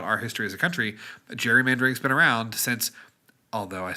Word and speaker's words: gerrymandering: Gerrymandering's been around since. Although I say gerrymandering, another fun fact, pronounced gerrymandering because it was named after a man, Mr. Gary, from I want to say Connecticut, maybe Rhode Island.